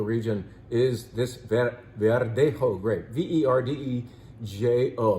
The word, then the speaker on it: Verdejo: Verdejo. Remember, the J is pronounced like an H. Verdejo.